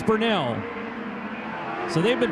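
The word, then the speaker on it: Bernal: 27W Ryan Burnell, who I said his name incorrectly for years because it's spelled B-E-R-N-A-L. And I said Burnell, and then I heard Gary out here announcing his name. He said Burnell, and I said, Gary's not wrong. So apparently I am. So I asked Ryan, and he said, yes, it's Burnell.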